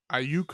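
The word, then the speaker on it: Aiyuk: Ayuk.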